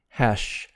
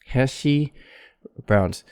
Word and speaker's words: hash browns: of a compound hash so palatal consonant hash with your tongue curled up for the shot don't make a flat tongue like hi heshi browns because actually that might